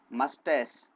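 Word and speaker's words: moustache: चिन means ठोडी या ठुड्डी, मस्टैस इसमें मुस्टेच लिखा है, इसका प्रोनाउंसिएशन मस्टास क्लियर हो जाएगा, बियर्ड दाढ़ी, और नेक मीन्स गर्दन।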